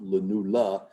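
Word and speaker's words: lunula: This kind of white structure, which is called the lenula. Sometimes spelled with a a but traditionally just spelled with a e on the end. Len, but just pronounced lenula, which means little moon.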